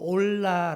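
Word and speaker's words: עולה: 이번 제 라는 거 번제 는 히브리어로 올라 라고 합니다 올라 올라간다 라는 뜻이에요 그러니까 우리 말이랑 발음도 비슷하고 또 비슷합니다 올라올라 산다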